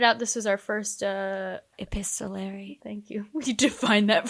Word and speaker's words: epistolary: You pointed out this was our first epistolary. Thank you. We define that for the listeners like Let me make sure I'm pronouncing it right.